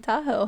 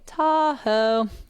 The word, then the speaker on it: Tahoe: Fun fact, Tahoe is the anglicized mispronunciation of the first two syllables of the native phrase. Yeah. So, they called it Da Ow, we say Tahoe.